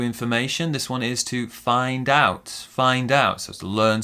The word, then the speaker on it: find out: this one is to find out find out so let's learn some new information and we stress the second syllable find out to learn something also